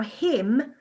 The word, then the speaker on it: hymn: the e sound now him is a real tricky one because the m and the n together the n is silent so you've got to remember that for your spellings because m and n together are silent they go just that